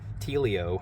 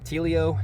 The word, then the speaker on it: Tealio: code and it was tealio that's how you pronounce my channel by the way atelio um tilio and then 10 for